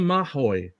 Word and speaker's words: Maho: So real name Kaimana Kai Maho pronounced Kaimana Mahoy or Mahoy.